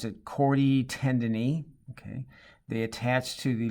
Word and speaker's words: chordae tendineae: Okay, you see these strands hooking to these are the papillary muscles down here, and the strands, you pronounce it chordae tendineae.